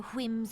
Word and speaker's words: whims: No more shall this nation bow to the whims of a privileged few. Oh, pronouncing the H in whim!